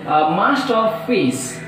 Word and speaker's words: masterpiece: And now coming to the masterpiece, masterpiece, masterpiece, so 3 syllables, so that stress is on first syllable.